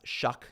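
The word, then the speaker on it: Shough: When you go Mac or McCarthy, Ward, uh Shuck, it's pronounced Shuck apparently.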